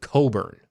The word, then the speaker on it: Cockburn: That Olivia Wilde, a very, very, very attractive actress, her real last name, now phonetically, it's Cockburn, but she pronounces it Coburn.